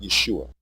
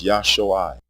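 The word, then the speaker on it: ישועה: The original and correct pronunciation of this word is not Yeshua. It is Yahshoi, with pure vowel sounds. The pronunciation Yeshua has two degraded vowels, a short E and a long U. The E is a contraction of the A vowel, and the long U is a contraction of the long O vowel, and we are deleting both.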